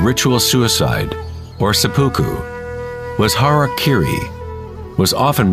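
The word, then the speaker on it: hara-kiri: one form of ritual suicide or seppuku was harak Kiri was often mispronounced as Harry KY it means to impale one's Hara thereby cutting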